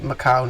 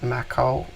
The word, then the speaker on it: Macau: So unless something funky is going on in the dark pool, which doesn't make sense because of the Macau news, I think that's how you say it, Macau, M-A-C-A-U-O.